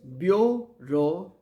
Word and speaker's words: bureaucracy: Next word, bureaucracy, and the pronunciation is bureaucracy, and the spelling is Bureaucracy.